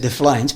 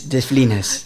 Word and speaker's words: de Flines: Yeah, because I almost said de Flines, but it's de Flines.